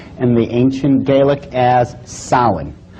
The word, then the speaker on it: Samhain: the name it looks as if it's saying Samhain or something like that no no no no this is properly pronounced and the ancient Gaelic as solid solid according to a cult tradition was the lord